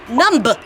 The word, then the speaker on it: numb: can't feel it Winnie I think you mean that it's numb numb numb you don't need to say the be the B is silent so let's work on